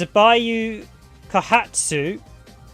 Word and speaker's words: Seibu Kaihatsu: originally done by let's see if i can pronounce this correctly it's a bayou kahatsu and they did the original two raiding games